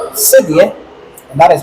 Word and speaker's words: cedi: And cowrie shells in my tree language is pronounced or said cedi, and that is how the Ghana cedi got its name from.